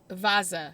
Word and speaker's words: Vasa: found my next topic it is the Vasa or vaza is kind of more of how they say it so before I'm gonna